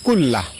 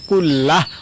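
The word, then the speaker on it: كلّه: আল্লাহুম্মা গফিরলি যামবি কুল্লাহ। আমি আবারও বলছি, আল্লাহুম্মা গফিরলি যামবি কুল্লাহ। লাস্টে হা উচ্চারণ, কুল্লাহ অথবা কুল্লাহু এভাবে পড়বেন।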